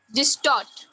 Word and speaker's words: distort: How do you pronounce it? Distort or distort? Distort. Anybody else want to say something else? Ma'am, taught. Tort will be stressed.